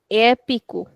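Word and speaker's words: épico: But here we are saying epico the stretch is on the first one itself because of the accent.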